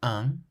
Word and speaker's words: un: In the pronunciation of the word un, there is a nasal sound at the end, un.